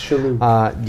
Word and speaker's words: Shalhoub: I just don't know how to pronounce his name because of my accent. It's Shalhoub.